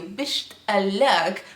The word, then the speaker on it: بشتاق: say I miss you, بشتاق, which is the standard way, okay? Here he's just not pronouncing the letter قاف and that's why it sounds different, but it's the same word.